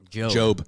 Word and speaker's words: Job: So Job is a person in the Bible? Job. Job. Sorry. Never mind. I thought it said Job. It is. It's spelled J-O-B, but it's Job.